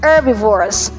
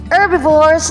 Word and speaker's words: herbivores: and we have herbivores herbivores h is silent herbivores herbivores ladies and gentlemen are